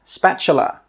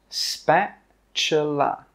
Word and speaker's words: spatula: This is a spatula, spatula, spatula. The T sound is actually pronounced as a CH sound.